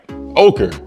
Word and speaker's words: ochre: 1 Retro High OG the color is yellow ochre black and sale y'all heard that right I pronounced that right ochre thanks to Google and my wife who uh